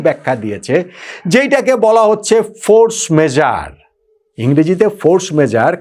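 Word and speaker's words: force majeure: দিয়েছে যেটাকে বলা হচ্ছে ফোর্স মেজার। ইংরেজিতে ফোর্স মেজার, কিন্তু আসলে এটা একটা ফ্রেঞ্চ শব্দ, তো ফ্রেঞ্চ উচ্চারণ করাটা বড্ড কঠিন। আমি দেখলাম সবচেয়ে কাছাকাছি বোধহয় ফোর্স মেজার এই টাইপের কিছু একটা উচ্চারণ হবে।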